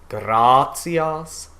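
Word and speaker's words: gratias: the g's are pronounced grazias so anytime we have the written g it is going to be this g sound we'll see that again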